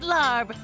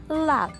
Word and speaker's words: larb: I'll take the maggot larb. Did I say that right? Larb? It's actually pronounced lap.